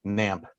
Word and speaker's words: GNAMP: that people mispronounce it they don't know that the g is silent and i kind of